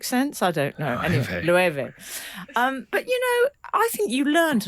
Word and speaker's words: Loewe: There was one that I looked like one syllable word, and it turned out it had three. Frank said, "Oh, lo," and I said, "No, it's lueve."